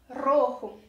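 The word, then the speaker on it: rojo: mesma palavra então fica muito difícil fazer a pronúncia diferenciar aponta que é um relativa não bate entender como por exemplo roho é a cor vermelha então prática bastante porque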